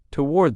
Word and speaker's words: toward: Now in American English, most people pronounce this as one syllable.